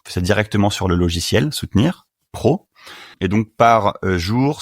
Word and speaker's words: Sootenir: Non, mais soutenir avec 2 O, sous, S-O-O-S, tu vois.